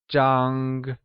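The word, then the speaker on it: 张: The first measure word we will learn is zhang. Zhang is the measure word for something flat, such as a bed, a photo, or a paper. It is pronounced with a high level tone, like zhang.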